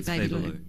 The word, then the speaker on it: Babaloo: I keep on calling it Babaloo because that's how it's spelled. Yeah. But it's actually Babu.